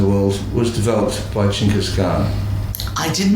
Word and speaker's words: Genghis Khan: She was the childhood sweetheart and long-suffering wife of Genghis Khan, which is the correct pronunciation.